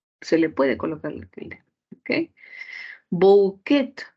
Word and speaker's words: bouquet: le puede colocarle Okay bouquet del francés la terminación en t no es una característica del español por lo que se ha eliminado y la secuencia ou tampoco en pronunciación es como u entonces la RAE lo